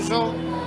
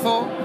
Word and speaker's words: Zoo: Es pronuncia com cada uno vol. Així a Catalunya la gent diu so, i allí en València pues, la gent li ha pegat per dir zo. Nosaltres quan toquem així en Catalunya diguem som zo, quan toquem allí pues, diguem som zo, o no es pronuncia zu, excepte mon pare que diu zu.